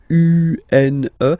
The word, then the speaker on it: une: Then the feminine article is here, and it's easier because if you have this U-N-E, then you pronounce it une, okay? Masculine, un, feminine form, une.